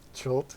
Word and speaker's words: Chult: How do you say that place? Chult? Chult, yeah. Chult.